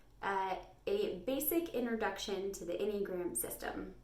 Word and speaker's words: Enneagram: So it is pronounced Enneagram. Enneagram.